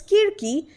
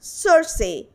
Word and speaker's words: Circe: review the book cersei the greek pronunciation is kirki but here i will use the english pronunciation and that's cersei name of the author